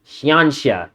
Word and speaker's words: Xianxia: Xianxia. That's how you pronounce it.